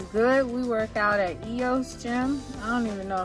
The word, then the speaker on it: EOS: we work out at eo's gym i don't even know if i'm saying it right it's eos fitness like yo but i i don't